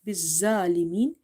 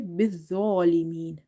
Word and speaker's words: بالظالمين: So when it comes to this is not بالظالمين, you have to say بالظالمين. ظالمين. Tho is from the Lithabia letters. So in order to pronounce this tho, you have to touch the tip of your tongue with the inner edges of your top two front teeth.